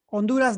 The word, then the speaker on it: Honduras: Honduras, the H is mute.